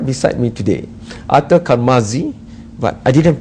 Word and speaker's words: Carmazzi: beside me today, Arthur Carmazzi, but I didn't pronounce that really well. Carmazzi. See, you have to say it like an Italian. Carmazzi.